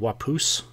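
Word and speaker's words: Waupoos: But yeah, what was I'd probably say my favorite cider is probably called Wapoos. It's spelled Waupos.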